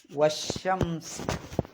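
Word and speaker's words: وَالشَّمْس: പേര് എന്താണ് ശംസ് ല്ലേ അത് ഓതേണ്ടത് വശംസ് അവിടെ വാവിന്റെ ശേഷം വരുന്ന എന്തില്ല അലിഫിന് ഉച്ചാരണല്ല കാരണം വസിലിന്റെ അംസയാണ് വസിലിന്റെ അംസ ആകുമ്പോൾ ഉച്ചാരണം ഉണ്ടാവില്ല പിന്നെ അപ്പോൊ ഓതേണ്ടത് വശംസി ലാമിനും ഉച്ചാരണമല്ല രണ്ട് അക്ഷരത്തിനും ഉച്ചാരണമല്ല വാവ് കഴിഞ്ഞിട്ട് ഷീനിലേക്ക് ചാടാം വശംസി പിന്നെ ഒന്ന് ഷീനാണ് ഒന്ന്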